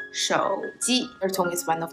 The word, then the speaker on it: 手机: Phone is 手机. Third tone, first tone. 手机, 手机.